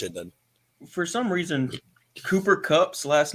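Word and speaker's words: Kupp: not that's cup is c.u.p damn it so how about this is it it's pronounced cup but it pisses me off the way it's fun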